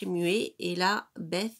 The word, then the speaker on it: Beth: Donc là, c'est Alep, le H est muet, et là, Beth, alors je sais pas comment on dit Beth, la bouche, le B est prononcé, Guimel, le G comme guirlande.